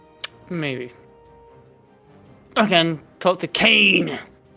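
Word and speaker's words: Caine: Kane is busily I like that Kane is spelled C A I N E, but he's called K A N E in the actual thing on the right.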